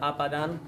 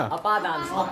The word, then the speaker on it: अपादान: और सप्तमी में अच्छा, इन्होंने एक शब्द बोला है आपादान, सही है क्या? अपादान। हाँ, देखिए शब्दों के उच्चारण पर एकदम ध्यान दीजिएगा। सिर्फ मात्रा बदलने से क्या हो गया? गड़बड़ हो गई बात। अक्सर लोग इसमें भूल कर बैठते हैं। आपादान अर्थ बदल गया, आपा का दान कर देना, खुद का